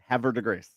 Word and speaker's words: Havre de Grace: Havre de Grace.